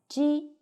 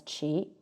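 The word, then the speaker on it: 奇: It's read as ji, which means secular number. There is no relationship between exterior and interior, belonging to character. The second reason is that qi is pronounced as qi, which means strange.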